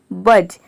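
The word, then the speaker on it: budge: अब देखिए यहां पे बी यू डी जी ई है यानी कि डी के बाद जी ई आ रहा है इसलिए यहां पे डी साइलेंट है बी य जी ई ये केवल हो गया बज बज मतलब होता है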